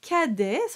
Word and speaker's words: Cadet: speechos so let's take this apart you have kedes we spoke about kede in the tips and